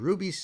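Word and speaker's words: RWBY: So the number one Kenote is Ruby, pronounced as Ruby because it's R-W-B-Y, is one of the most popular American-made fantasy animes out there.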